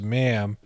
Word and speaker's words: ma'am: referring to her as ma'am pronounced the same as jam and so majesty is